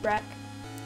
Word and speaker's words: wreak: wreak havoc on everything wreck wreak wreck same thing you get pronounce it both ways unless we stop it